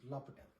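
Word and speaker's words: L'Hôpital: That's how they pronounce this in French, is L'Hopital rule.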